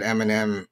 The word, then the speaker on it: Eminem: some of them uh it was not able to identify That Eminem was three syllables it treated it as one so the second line